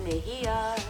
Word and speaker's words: Mejia: Yep, you spell it Mejia and you pronounce it Mejia.